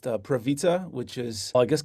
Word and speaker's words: Prawica: Yeah, the last name is pronounced Prawica, which is, I guess, like pizza. The W is pronounced as a V, but I mostly just go as as well.